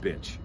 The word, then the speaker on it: Bich: So he just called it the BC Rich Bitch and dropped the T out of bitch, and it's B-I-C-H. So Rich Bitch, spelled the same way.